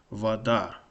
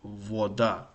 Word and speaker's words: вода: So the correct pronunciation of this word is, I think it's correct, is vada. And if you pronounce it, the stress wrong, it will be voda, which is completely different.